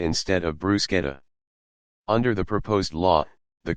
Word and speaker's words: bruschetta: 100 000 Euros 108 705 dollars don't say bruschetta instead of bruschetta under the proposed law the culture Ministry would